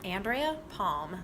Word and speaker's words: Andrea Palm: Sure, it's Andrea Palm, like the tree.